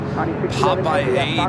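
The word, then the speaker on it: Papeete: you have debated it, the correct pronunciation of Tahiti capital is Papaedi.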